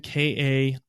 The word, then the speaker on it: Kaien: the Japanese is Kaien, Kaien. Says rhymes with sky hen.